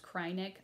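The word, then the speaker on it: Kreinik: But it uses a ton of krynek. I think it's actually pronounced krynek. I've always said krynek though, so it's kind of hard to break the habit.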